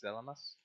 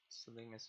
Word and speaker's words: Salinas: Salinas sorry keep on I always want to say selling us that gets Salinas is the right way to say it anyway so letter in